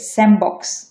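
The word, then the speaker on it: sandbox: পরেরটা হচ্ছে স্যান্ড বক্স, এটা হচ্ছে হবে স্যামবক্স, স্যামবক্স, স্যামবক্স।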